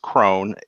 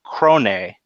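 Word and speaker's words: Krone: original japanese they say crone a because that's how you would pronounce that in japanese Crone a and they also have lip flaps for that so it's a two syllable name and so I think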